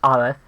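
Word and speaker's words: א: all sematic languages and our first letter is the letter Al so that's ol it is silent uh the reason why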